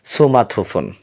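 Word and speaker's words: 스마트폰: ইস কথাটি থাকলে আমরা সু উচ্চারণ করব। তো এখন আমরা যদি স্মার্টফোন বলি তাহলে কোরিয়ান এর অর্থ হবে সুমাথোফোন।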